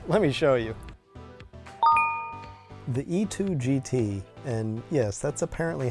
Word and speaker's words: E-Twow: it freakin rips let me show you the e2 GT and yes that's apparently how it's pronounced really surprised to me in the speed